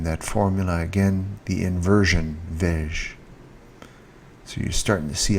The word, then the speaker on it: vais-je: The S is silent. Vais-je. Vas-tu? Quand vas-tu au parc? Quand va-t-il? Quand va-t-elle? Quand va-t-on? Quand allons-nous? Quand allons-nous au parc? Quand allons-nous au parc? Quand allez-vous au parc? Quand vont-ils au parc? Right, so pronouncing that takes a little bit of practice. Vais-je. Almost like vegetable.